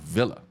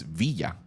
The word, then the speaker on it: Villa: So my last name is actually not Villa. It's Villa, and it's Villalobos.